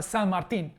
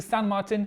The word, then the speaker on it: San Martin: I did it I finally got myself a San Martin yes I decided it should be pronounced in Spanish Let's R the unboxing